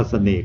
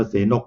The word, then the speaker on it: เสนก: นะ ครับ ก็ คือ จะ อ่าน ว่า เสน่ห์ หรือ ว่า แต่ นก ก็ ได้ แต่ ว่า ผม อ่าน ว่า เสนก มา แล้ว ก็ ต้อง